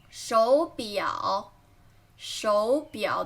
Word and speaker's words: 手表: 手表，手表 This is my favorite brand. 手表，手表 Remember, don't pronounce it as 手表. When there is 3 third tone, you should pronounce the first one into second tone.